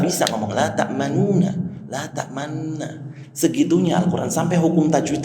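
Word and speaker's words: تأمنا: Mungkin ada yang ayat la ta'manna, bacanya bibirnya rada monyong, tapi nggak boleh bacanya la ta'manuna, tapi la ta'manna, gitu kan?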